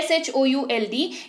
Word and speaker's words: should: फर्क बस इतना है कि इसका उच्चारण जब होता है तो L का वहां पर रोल नहीं होता। आप L को भूल जाइए, फिर इसका उच्चारण करिए, लेकिन लिखते वक्त L को याद रखिएगा।